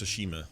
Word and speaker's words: Tsushima: Yeah, I think it's Tsushima is the pronunciation. Tsushima. I think the T is Tsushima.